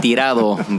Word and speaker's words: Tirado: no Toronto okay Toronto you say Toronto I say Torito Toronto it's actually tirado but there you go